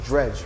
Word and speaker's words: DREJ: I make honest apologies about pronouncing names wrong the first time, because he said DREJ, but his name is pronounced DREJ, right? Yeah, DREJ.